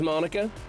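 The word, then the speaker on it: Monika: It's the same pronunciation as Monica.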